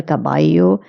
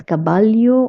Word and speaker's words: caballo: Here, the most important things you have to look at is the double L in El Caballo. You have to pronounce it as caballo or caballo.